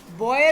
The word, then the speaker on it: buoy: बॉय BOUI, ठीक है ना, ये वो वाला बॉय है, BUOY, ठीक है, स्पेलिंग देख ली इंग्लिश में।